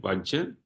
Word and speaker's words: vajja: pointing out faults so w is fault waj that is how you pronounce it vaj and the third one